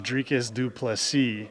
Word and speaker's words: Dricus Du Plessis: everybody to know that my name is drus dupy and you made sure that everybody knew your name and how to pronounce it and I saw the